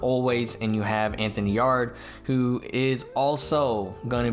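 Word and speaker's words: Yarde: I was mispronouncing Yard's last name. It's not Yard, it's Yard.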